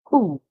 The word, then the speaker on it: who: spelled the away so we hear the H make the sound and the O make the o sound so we hear who who the W silent and our next and